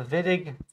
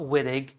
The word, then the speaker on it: Wittig: W-I-T-T-I-G, the Wittig reaction, not Wittig, it's pronounced Wittig with the V.